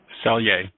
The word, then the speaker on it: Selye: Hans Seeley was brought up. I think you mentioned Hans Seeley. Selye. And Selye, thank you. I never knew how to pronounce that.